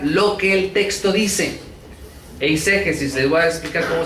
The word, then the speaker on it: eisegesis: Eisegesis, les voy a explicar cómo se escribe. E-I-S-E-G-S-I-S. Eisegesis. En inglés se le dice eisegesis. Eisegesis. No Jesus del nombre de nuestro Señor. Ese no.